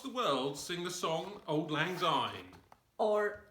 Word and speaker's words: Auld Lang Syne: Every New Year, people all across the world sing the song Auld Lang Syne. Or Auld Lang Syne, if you want to pronounce it properly.